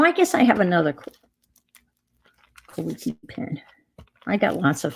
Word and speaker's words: Kaweco: Kawiki. It is Kaw. It's ECO. Kawiki. This is a Kawiki sport. KAWECO. And that's how it's pronounced, Kawiki.